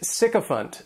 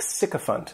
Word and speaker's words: sycophant: The next noun is sycophant, and this noun has three syllables, and the stress is on that first syllable.